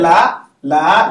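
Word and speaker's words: لا: So it's a lam and an elongation. La. Nah. The lam, the a sound is to the la, and the alif is silent. That's what makes it la.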